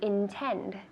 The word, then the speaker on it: intend: To intend with the D at the end.